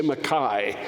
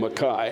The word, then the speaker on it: McKay: real we don't say McCain's Scotland we say Makai that's the how you properly pronounce that name Makai anyway Adam McKay Makai he thought because he's